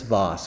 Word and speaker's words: Voss: to everyone follow chris voss chris voss is a boss vos rhymes with boss so i'm making him